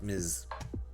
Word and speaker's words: Ms: States and it's uh it's appropriate just pronounced Miz uh yep Mister from